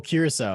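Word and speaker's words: Curaçao: Oh, Curacao.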